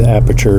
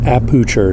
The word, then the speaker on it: aperture: I love these aperture lights. I gotta say it right. Aperture, not aperture.